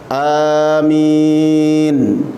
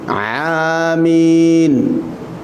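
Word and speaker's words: آمين: yang benar apa Ikhwan Amin selesai jangan salah ada orang membacanya pakai Ain Amin kalau pakai Ain jadi berubah maknanya buta walaupun Amin tasydid Amin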